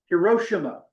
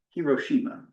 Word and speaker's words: Hiroshima: Well, August 6, 1945, the United States dropped an atomic bomb on the Japanese city Hiroshima, or you may hear it pronounced Hiroshima.